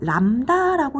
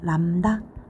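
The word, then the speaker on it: λ: 요게 람다라고 읽으면 된대 얘들아. 람다.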